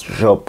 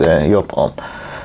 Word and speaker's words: Joop: reviewing y home and some people pronounce it as job home but the real pronouncing is yop so basically this an